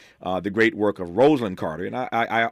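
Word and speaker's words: Rosalynn: you in a heartbeat it's not Roslin people call her Roslin all the time that's not how she pronounced it sorry no no no no no no no no I'm just saying to the audience not to Ed to to the audience it's rosand and he will tell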